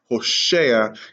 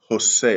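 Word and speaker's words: הוֹשֵׁעַ: want to be correct the book named after the prophet hoshea is also pronounced hosha and not jose all right let's move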